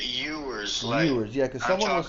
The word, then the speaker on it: Ewers: making sure that Ewers is it Ewers or Ewers? Because I heard someone say... You pronounce it Ewers.